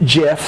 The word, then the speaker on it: GIF: gif but the creators of the image format pronounce it jeff so we should - it was created by